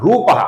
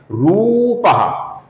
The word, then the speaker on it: रूप: और इसका जो रू है यह रू दीर्घ है दोस्तों। कुछ लोग इसका ह्रस्व उच्चारण करते हैं अर्थात रूप ऐसा उच्चारण करते हैं जो कि गलत है।